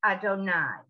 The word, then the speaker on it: Adonai: the two yards in actual prayer this is pronounced adonai this is god's name i'm doing it with